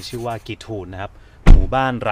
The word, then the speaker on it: Giethoorn: บ้าน นี้ นะ ครับ มี ชื่อ ว่า กี ทูน หรือ จะ อ่าน ว่า กิ้ว ทอน ก็ ได้ นะ ครับ มา จาก